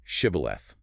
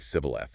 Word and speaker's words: shibboleth: They made everyone trying to cross say the word shibboleth. The enemy tribe's dialect couldn't pronounce the sh sound. They said sibboleth instead.